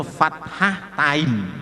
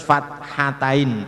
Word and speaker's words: fathatain: Nah, ini supaya jangan salah menyebutkan seperti anak-anak ya. Menyebutkan itu fathah tain, nah itu salah. Harus fathatain, tak hanya dihilangkan.